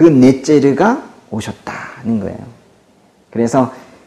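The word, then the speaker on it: נֵצֶר: 이 가지라는 단어가 히브리어로 발음이 넷제르인데요. 넷제르.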